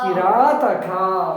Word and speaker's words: ಕಿರಾತಕ: ತ ಕುಡಿಸಿ ಹೇಳಿದ್ರೆ ಕಿರಾತಕ ಕಿರಾತಕ ವೆರಿ ಗುಡ್ ನೋಡಿ ಇಲ್ಲಿ ರ ಇದೆ ದೀರ್ಘ ಸ್ವರ ಸೇರಿಕೊಂಡಿದೆ ಸೋ ದೀರ್ಘ ಉಚ್ಚಾರಣೆ ಮಾಡಬೇಕು ಕಿ ಕಿ ರಾತಕ ಕಿರಾತಕ ವೆರಿ ಗುಡ್ ಮುಂದಿನ ಪದ ಮೊದಲನೇ